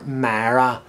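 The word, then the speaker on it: Moira: through a little village called Myra our Mara as people here sometimes pronounce it so there's a set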